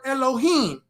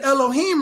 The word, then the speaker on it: Elohim: And here's the word Elohim. The A in Elohim right here is silent.